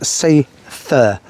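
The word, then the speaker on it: Seiðr: really do pronounce it cider actually, it's Seither, S-A-Y apostrophe T-H-E-R, not the way it's spelled at all, but that's the way you pronounce it, Seither.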